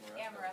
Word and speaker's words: Ameresco: I'm gonna, hopefully I remember how to say it. It's a Ameresco? Ameresco. Ameresco. Yes. You can French it up if you want.